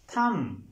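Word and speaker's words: thumb: sketch restaurant restaurant restaurant थम थम थम बी साइलेंट मॉर्गेज मॉर्गेज ी साइलेंट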